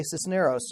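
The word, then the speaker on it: Cisneros: francisco jimenez de Cicero's Sisneros sister oh I don't know Sisneros oh ok Sisneros ok I put the emphasis on the wrong syllable and he was a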